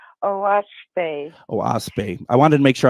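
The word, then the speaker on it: Oahspe: it's spelled o a s p and it's pronounced oasp oase I wanted to make sure I didn't want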